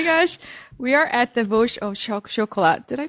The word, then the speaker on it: Vosges Haut-Chocolat: We are at the Vosges Haut-Chocolat. Did I pronounce that right? Vosges Haut-Chocolat.